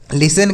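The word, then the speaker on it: listen: टी ई एन लिसन यहां पर जो लिसन लिखा गया है टी इसमें साइलेंट है इसको नहीं पढ़ते हैं लिस्टन नहीं पढ़ेंगे लिसन पढ़ा जाएगा लिसन का अर्थ होता है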